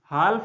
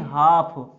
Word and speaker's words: half: फिर अगला हाफ, HALF, हाल्फ नहीं हाफ, HALF, FL साइलेंट रहेगा, तो हाफ, इसका हाफ्स,